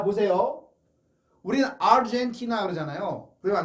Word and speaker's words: Argentina: 우리는 아르헨티나 그러잖아요. 그러면 안 되고 아르헨티나, 아르헨티나. 왜냐하면 아르헨티나 그러면 R 발음이 거의 안 들리죠. 그럴 때문에 자음 앞에 R이 있을 때는 떨어져야 된다는 거예요.